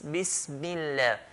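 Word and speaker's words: بسم الله: People, they say, Bismillah. No, it's Bismillah. Mim has to sound very clear kasra.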